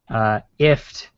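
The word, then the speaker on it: IFTTT: But yeah, so if this then that, which apparently they intend for you to pronounce ift is apparently what they I was not aware of this.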